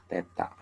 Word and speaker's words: theta: Jadi pada gerak rotasi itu ada istilah posisi sudut, simbolnya adalah theta, kemudian kecepatan sudut, ini omega, ini kita sebutkan, ini adalah dibacanya theta.